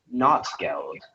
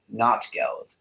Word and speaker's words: Notgeld: All right, speller 5, your word is not geld, also not geld.